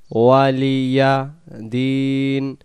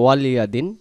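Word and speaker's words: وَلِيَ دِينِ: কিন্তু দালিয়াজের দি এক আলিফ, লাকুম দিনুকুম ওয়ালিয়া দিন। এখানে আমাদের উচ্চারণ হতে পারে ওয়ালিয়াদিন।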